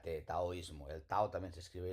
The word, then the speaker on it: taoísmo: de chino una d hay que pronunciarlo como t de manera que aunque aquí técnicamente ponga dao ismo lo pronunciamos como una taoísmo El tao también se